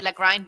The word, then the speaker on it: Lagrein: See, we go back to the German pronunciation, right? The Italians would say Lagrein because that's how it's spelled, but it's actually Lagrein, and it's a Germanic name.